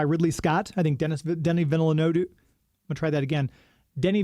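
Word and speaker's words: Denis: He's French, but it's Dennis, but he doesn't say it like that. Well, I know he says Denny.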